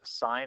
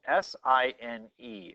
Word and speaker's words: sine: as sine of theta so it's spelled s-i-n-e sine of theta it's not times theta and this is the word that we use we abbreviate it to be this please don't say sin and if you consider